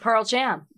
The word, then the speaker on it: Pearl Jam: That's what I said, Pearl Jam. You're saying it wrong. I'm sorry, what's the problem? Take a pause between the Pearl and the Jam. Why? Because that's the name of the band.